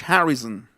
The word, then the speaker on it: Harrison: George Harrison. Harrison. Harrison. No es son, es zn. Zn.